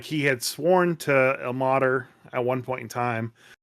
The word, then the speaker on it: Ilmater: It's Ilmater. If you keep saying Ilmater, it's just gonna mess with me the whole time.